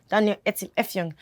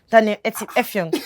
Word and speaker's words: Daniel Etim Effiong: It's not hard to pronounce. Daniel, no, I was rehearsing in the car. Daniel Etim Effiong. Daniel Etim Effiong.